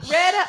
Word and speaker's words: Retta: Spell it for me. OKLAHOMA. Not Retta RETTA.